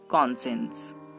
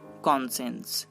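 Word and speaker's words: conscience: Next SCI, এই তিনটি লেটারও তালবশ র উচ্চারণ করতে পারে, যেমন কনসেন্স, কনসেন্স।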